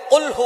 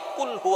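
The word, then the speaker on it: قُلْ: আল্লাহ পাক রাব্বুল আলামন এখানে বলছেন কুলহু আল্লাহু আহাদ। এখানে কফ দিয়ে পড়ছেন কিন্তু অনেকেই ভুল করে উচ্চারণ সঠিক না হওয়ার কারণে তারা পড়ে কাফ। কুলহু আল্লাহ।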